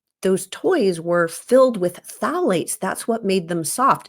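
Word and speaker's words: phthalates: Another important hormone disruptor in plastics is called phalates, which is spelled with a silent P, so don't ask me to spell it right now, but phalates.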